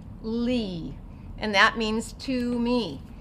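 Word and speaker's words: לי: So the lamed says ol. The yud is silent in this case, and so what's this going to say? Li, and that means to me.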